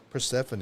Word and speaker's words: Persephone: Persephone. Yep. Yes. That is how you Persephone.